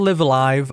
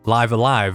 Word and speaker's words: Live A Live: Not Live Alive or Live and Evil, that one might be stretching it. It's actually pronounced Live Alive according to the Nintendo Direct narrator, so I'm going to go with that.